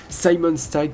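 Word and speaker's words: Simon Stagg: stag il y a Simon stag VO plutôt je vais le prononcer en anglais Simon stag qui est aussi dans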